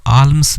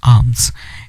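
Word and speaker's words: alms: दीक्षा हम भिक्षा है इसको आर्म्स नहीं बोलेंगे ल साइलेंट हो जाएगा इसकी जो करेक्ट प्रनंसीएशन होगी वो होगी आर्म्स वे कलेक्ट आर्म्स और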